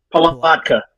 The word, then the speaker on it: Palatka: Palatka.